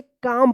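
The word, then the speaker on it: calm: देखिए यहां पे एम से पहले एल आया है तो क्या होगा कि एल जो है ना साइलेंट रहेगा। तो इसको क्या पढ़ेंगे? काम पढ़ेंगे।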